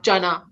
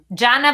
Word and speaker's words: Jana: It's actually a hard J, so like Jana. Jana? She says it rhymes with Nana. Rhymes with Nana. Yeah. Jana banana.